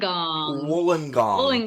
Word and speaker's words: Wollongong: Is it Wollongong? Is that how you say it? Wollongong.